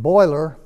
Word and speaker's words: Byler: old boiler Road and boiler is an approximation of the original French German pronunciation of the name as it is spoken